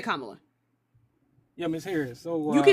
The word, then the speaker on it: Kamala: It's not Miss Harris. It's Kamla Harris. You can say you can say Kamla.